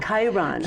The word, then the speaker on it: Chiron: a little bit different the Sharon or is it the chair oh yeah pronounce that um I specialize in in Chiron Chiron okay I could see how it was spelled in my head but I couldn't figure out how to pronounce it yes c-h-i-r-o-m Chiron okay who's the wounded healer